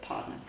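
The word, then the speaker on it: pardner: Now, pardon a hand is spelled P-A-R-D-N-E-R, like partner, but partner, is an informal community-based savings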